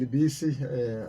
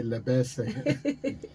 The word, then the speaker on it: Libisi: Yes, that's correct, Reverend Libisi. I normally hear other people in KZN say Lebese. Lebesi is in milk, ne? Yes, as in milk. It's Reverend Libisi, the Tsonga Reverend.